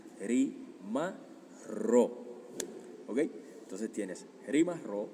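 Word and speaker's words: rimarrò: del futuro, sino que doblas la R y dices rimar ro.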